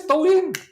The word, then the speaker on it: Douyin: And then, of course, they cannot even pronounce Douyin. Douyin is the TikTok version in China. They pronounce it twine, twine, twine. You know the twine in China? What twine? It's not twine. It is Douyin.